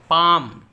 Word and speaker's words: palm: जैसे एग्जांपल देखें, MFKD से पहले PALM, तो देखिए एम से पहले एल आ गया है, तो अब एल को नहीं पढ़ेंगे। पाम, पाम हथेली।